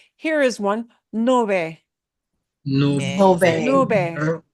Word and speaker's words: nube: Nube. Nube. And that B in the middle will be very soft.